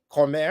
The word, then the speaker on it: Cormier: Cormier.